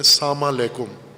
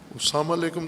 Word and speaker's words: سلام علیکم: جیسے سلام کرتے ہیں ہم، سلام علیکم، البتہ اپنے لہجے میں، بعض پنجابی لہجے میں سلام کرتے ہیں یا غیر پنجابی میں ساما لیکم، ساما لیکم. نہ ساما کا کوئی معنی ہے، نہ لیکم کا کوئی معنی ہے. ساما لیکم، سلام علیکم تو کوئی اصطلاح نہیں، عادت ہے.